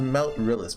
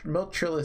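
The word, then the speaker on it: Meltryllis: Oh yeah, it is pronounced Meltrillis, by the way.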